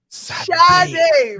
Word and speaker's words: Sade: Sade, my guy. Before we started recording, I was saying her name wrong, and Boogie was like, "Nigga, that's not her name."